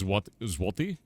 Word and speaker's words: złoty: The Polish złoty? I think if I pronounce that right. Złoty. You got to do like a weird thing with your mouth.